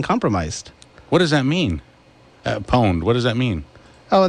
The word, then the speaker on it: pwned: I don't like that it's pronounced pwned when there's no O there.